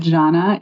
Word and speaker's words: Žana: So I know that Janna is spelled Z A N A and then divine hospitality or it also can just be ZD hospitality.